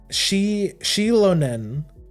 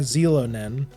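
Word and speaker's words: Xilonen: moment where it's like, in the English language, you pronounce the X with like a Z sound. You say it like a Z, like you say it like Zelo. You say like Zelonen.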